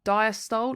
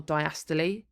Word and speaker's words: diastole: We have diastole or diastole, people pronounce this differently, atrial systole or systole, and ventricular systole or systole. So as I said, everyone pronounces this slightly differently depending on where you're from.